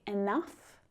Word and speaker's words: enough: rough, tough, I mean there are several silent letters in each of those words right. The silent G, the silent H but for the vowel sound, just a simple U would suffice, wouldn't it?